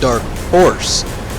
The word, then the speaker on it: Dark Horse: No, it's pronounced Dark Horse. There's no W in horse.